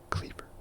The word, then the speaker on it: cleaver: This word passed through Latin, Old Norse, Old English, and Middle English to become cleaver. Eventually, the A was added to help with separating its pronunciation from the word clever.